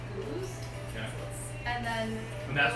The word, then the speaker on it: Gose: me decided it's a Goza. No. Okay, so I looked this Did we? up too. So there's the Belgian style of sour, which is it's pronounced goose, Yeah.